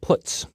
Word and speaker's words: puts: are the most popular they are pronounced print F put car and puts each function is designed